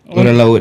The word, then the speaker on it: orang laut: Orang laut Yeah. Yeah. Did I pronounce it wrongly?